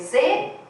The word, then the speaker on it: Zweig: Como chave do caráter misterioso de Dostoiévski, é Zweig que pronuncia, alguém sabe alemão, hein? Sim. Zweig, né? Escreve Z-W-E-I-G.